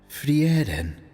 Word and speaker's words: Frieren: It's amazing he watched the anime and still pronounces her name wrong. Is it not? Frieren.